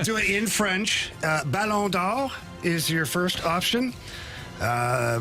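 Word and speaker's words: Ballon d'Or: The real way is balon. Then ESPN calls it the balonor.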